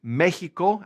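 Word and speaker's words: México: In Spanish, it is Mexico, accent on the E, and they are Mexicano.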